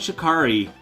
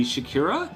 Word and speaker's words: Shikari: Arcbound Shikari. Am I saying it right? I always feel like I should say Shakira, but I know that's wrong.